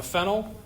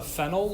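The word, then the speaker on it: phenyl: what's the other substituent except that pronunciation also I'd call it fennel but that's okay we have a fenel we have an amount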